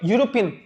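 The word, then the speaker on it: European: यूरोपियन country ठीक है अब देखो आप यूरोपियन तो नहीं बोल रहे यू से तो प्रोनंसिएशन नहीं कर रहे य य यूरोपियन य इसकी आवाज आ रही है य की इसीलिए अब जो साउंड आ रही है that is not related to vowel it's related to consonant तो यहां पे अ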